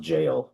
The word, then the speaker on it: gaol: Okay, the word, strange word that's pronounced jail.